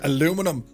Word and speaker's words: aluminium: Airwolf says, so amazing to see the details of the aluminium fuselage. Aluminium, that's how you say it, by the way. Aluminum. Who says aluminum?